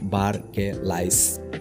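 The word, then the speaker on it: Barclays: देखिए, ये जो स्पेलिंग है बार्कलेस, इसे आप ऐसे भी पढ़ सकते हो, बार्कलाइस।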